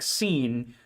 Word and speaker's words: Sean: I'd like to clarify, Sean is pronounced like Scene because of a joke in high school.